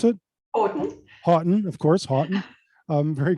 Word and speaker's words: Houghton: So that's Christine, how do you pronounce it? Houghton.